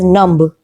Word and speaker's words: numb: number three num num in the word num ba is not pronounced it is not as numb it is num okay next word is